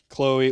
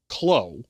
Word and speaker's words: Chloe: It is Clo, not chlo. Just to be clear, because when you like put the like pronunciation out, I would not expect the ch there.